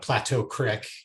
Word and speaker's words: Plateau Creek: And if you've got Western Slope listeners, then Plateau Creek is how you say it.